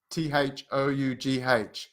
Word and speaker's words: though: no one no one doe th o ugh though hopeless come on Carlos